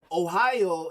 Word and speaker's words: Ohio: But Ohio is actually Seneca land. It's in our language. The correct pronunciation of Ohio is O-hi-o.